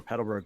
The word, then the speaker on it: Petalburg: knowledge to compare it to what you know of peterburg forest already or petalburg forest i never say it right by the way um